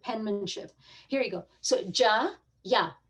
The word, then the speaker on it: Jai: So sometimes I get a call from the doctor's office that says, so my son's name in Hindi is Jaya, right? Ja, Ya, J. But in English, we spell it Jai.